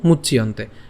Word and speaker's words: মুচ্যন্তে: এরপর মুচ ইয়ন্তে, তো আমরা একসাথে উচ্চারণ করব মুচ্যন্তে।